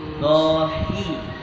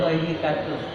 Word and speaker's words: ضاحكة: ضاحكة Dohi. Bukan hohikatun.